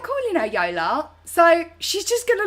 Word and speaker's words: Jola: But we were speaking anyway, and she was like, babe, I didn't tell you this, but my name's actually pronounced Yola because I'm Polish.